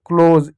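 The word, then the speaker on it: close: से ओ की मात्रा एस से ज हो जाएगा क्लोज ई साइलेंट होता है किसी भी शब्द के अंत में इ आता है तो इ को नहीं पढ़ते क्लोज पी से प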